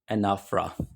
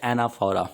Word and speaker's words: Anaphora: Topic number 13 discuss करेंगे जी जिसका नाम है जी एनाफरा। कुछ लोग इसको प्रोनाउंस करते हैं एनाफोरा। बेसिकली इसकी जो रियल प्रोनंसिएशन है ना वो है एनाफरा।